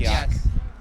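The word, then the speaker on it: qajaq: kyak. Yes. I didn't know. It was Kayak is kyak. kyak. Yeah. Kyak. Kyak. Kyak. Kyak. Kyak. Yeah. Instead of kayak.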